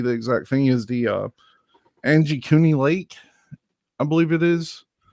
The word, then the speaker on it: Angikuni: talking about, maybe the exact thing, is the Angie Cooney Lake, I believe it is the way that the way it looks like it's spelled here.